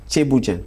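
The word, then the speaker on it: thiéboudienne: as appelé ça comment le tbouen tbouen oui je prononce bien oui oui c'est comme ça che Bouen ah d'accord ça donc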